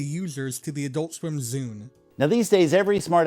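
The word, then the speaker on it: Zune: the makers of the Zoom device that you're holding right in your hand. That zoo rhymes with dune.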